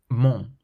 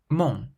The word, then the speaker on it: mon: So how would you pronounce this first word, which means bread? Pain, pain. The next word, meaning my, mon, mon.